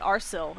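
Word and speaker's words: Arcil: somebody in west rohan named arsel and it's a a-r-c-i-l so i use that as reasoning to say that i'm pronouncing this right even if i'm not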